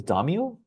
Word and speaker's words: daimyo: The daimyo?